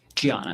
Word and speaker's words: Diana: Gianna. It's spelled with a D, but she's Brazilian.